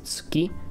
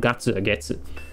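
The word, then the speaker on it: 月: threw this kanji there this kanji by itself is used for moon and you pronounce it as suki if you're saying moon but if you attach it to a number it can become gatsu so ichigatsu would be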